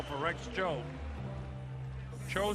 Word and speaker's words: Tso: Cho spelled TSO. TS in Chinese, they tell me is pronounced Ch.